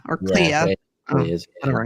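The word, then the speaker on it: Kleya: Clea or Clea, whatever her name is. Yeah, it rhymes with Leia.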